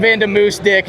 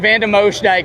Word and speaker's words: van de Moosdijk: Now we got van de Moose Dick. Just kidding, dude. Van de Moosdijk.